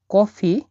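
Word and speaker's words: кофе: দেখুন এটা কে ও, এই অক্ষরটাকে বলা হয় এফ, এটা ই। তাহলে এরকম বৃত্তর উপর একটা টান, পেট কাটা, এটাকে ফ বা এফ আকারে উচ্চারণ করা হয় রাশিয়ানে।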